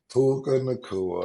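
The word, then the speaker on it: Puka Nacua: Yeah, Stat, you can say it because you say it correctly. Puka Nakua, okay, Pookie.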